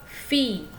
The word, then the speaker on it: filles: Kalau anak perempuan ce sont vos filles ya. Walaupun dia jamak, S-nya tidak dibaca ya.